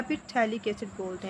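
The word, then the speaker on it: phthalic: Carboxylic acid या फिर थैलिक acid बोलते हैं। ठीक है, इसका जो पी होता है वो साइलेंट होता है, जिसको आप थैलिक एसिड बोलते हैं।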